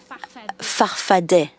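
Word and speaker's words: Farfadaa: Your movement, you call it Farfada with two A's at the end, but you pronounce it Farfadet.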